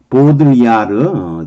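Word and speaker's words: Baudrillard: 보드리아르, 뒤는 발음 안 할 거고요.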